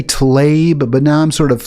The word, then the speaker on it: Tlaib: Well, I was calling about, the comment that Rashid Tlaib, is that how you pronounce her name? I say Tlaib now. I used to say Tlaib, but now I'm sort of soft pedaling that and saying Tlaib because that Tlaib?